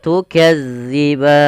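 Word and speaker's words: تُكَذِّبَانِ: Usahakan di dalam melafalkan tukadziban, dilafal huruf dalal, hati-hati ya, Teman-teman. Jangan sampai kita membacanya panjang. Maaf bukan panjang, menggantinya dengan huruf zai. Contoh bagaimana? Tukazziban. Ah, itu diganti. Padahal dia tidak boleh. Yang betul bagaimana? Tukadziban.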